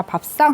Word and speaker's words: 밥상: 자, 밥상 한번 보겠습니다. 자, 밥상에서의 쌍은, 자, 얘는 왜 밥상이 쌍이라고 발음이 됐어? 그치? 된소리 되기죠.